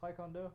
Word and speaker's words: Taekwondo: cheesy and twycon how do you say it Taekwondo right yeah Taekwondo and Taekwondo okay and uh